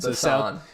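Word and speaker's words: Busan: to the Sun Bhushan have you pronounce it basan basan yeah just South Korean City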